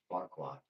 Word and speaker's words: Farquaad: No, Lord Farquaad.